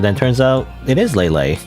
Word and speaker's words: Leyley: I learned recently that it's supposed to be Lelay. It's kind of already too late. I think I I can't remember what what did I used to say or how did I pronounce it before? I think I said like Lelay before, but then I changed it to Lely cuz I was thinking, "Oh, Lely makes more sense."